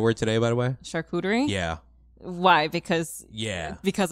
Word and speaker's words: charcuterie: photography um videography partners I have um some charcuterie board partners with the I just learned how to say that word today by the way charcuterie yeah why because yeah because of me yeah